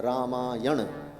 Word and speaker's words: रामायण: गया रामा यन और यन में जो न है अंत में वह व्याकरण के नियम से ण हो जाता है उसका उच्चारण न नहीं किया जाता अपितु न किया जाता है रामायण तो दो अक्षर दो